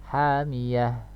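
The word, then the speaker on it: حامية: Alal malaikah, nah, cara membacanya demikian. Contoh lain misalnya ta marbutohnya berharokat fathahtain, hamiyatan, maka wakafnya hamiyah, ya.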